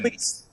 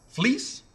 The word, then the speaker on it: Fleecs: How do you say your last name? Because I think I'm saying Fleecs. Fleece. Yeah, like wool. Fleece like wool. I've been calling it Fleecs. A lot of people do. The C is silent.